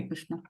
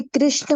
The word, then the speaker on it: कृष्ण: बोलते हैं कृष्ण और महाराष्ट्रीयन वो लोग क्र को क्रू बोलते हैं खास करके मराठी जो स्पीकिंग है ना तो वो कृष्ण बोलते